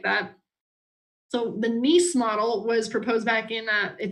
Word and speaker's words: Nice: late heavy bombardment is what we call the NEASE model. That is spelled correctly. It is spelled like that. So the NEASE model was proposed back in, it's from Nice, France.